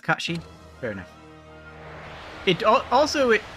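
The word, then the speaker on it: Cait Sith: know what I'm dumpstering Casey yeah Kashi is how it should be pronounced I believe right okay sir Kachi I don't know yeah it is pronounced Kashi very nice it also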